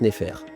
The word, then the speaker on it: nefer: Ça s'écrit nefer et se prononce nfer.